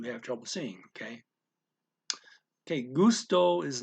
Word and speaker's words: gusto: trouble seeing okay okay gusto is not pronounced quite the same in spanish the accent is on the second syllable or evenly it's not gusto it's gusto okay uh what else